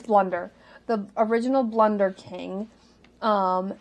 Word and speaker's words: Blunder: And that they were made by the original Balder. Is that how you say it? I think it's Boulder. Boulder King. Yes. Blunder or I think it's Blunder. It's Blunder.